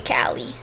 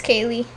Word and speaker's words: Kallee: feel like one thing a lot of people get mixed up is like calling me Callie. Callie. So many people call me Callie because of the way my name is spelled, but it's Kaylee.